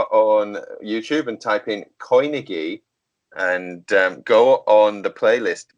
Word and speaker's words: Coinigy: go on YouTube and type in Koinigi and go on the playlist Bitcoin trading. Koinigi is spelled coin IGY, so COINIGY Koinigi, and Bitcoin trading playlist.